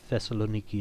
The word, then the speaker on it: Thessaloniki: I think Thessaloniki is more more of a Greek pronunciation.